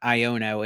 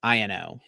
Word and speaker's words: Iono: been saying it's wrong it is not iono it is Ino dude it's just oh